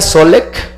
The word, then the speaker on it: Solé: yo estuve con robert se pronuncia solé y él fue el